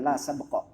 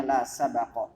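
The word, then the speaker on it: لا سَبَقَ: Nah, tidak boleh ada hadiah dalam lomba sabak dengan fathah ba, bukan la sabqa, bacanya la sabaqa.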